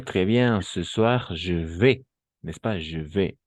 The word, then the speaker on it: vais: Ce soir, je vais. n'est-ce pas? Je vais. N'oubliez pas la combinaison de voyelles A et I, toujours E. Et le S à la fin, on ne prononce jamais.